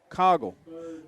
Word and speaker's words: Coggle: Is it Coggle? Coggle? Is that how you say it, Mickey? Cowgill or Coggle? Coggle. Mickey Ray says Coggle. We're going to go with Coggle.